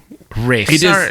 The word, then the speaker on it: Ralph: Well, I was watching online and and it seems like some people call it Ra say Rafe and some people say Ralph. I don't know. He says Rafe.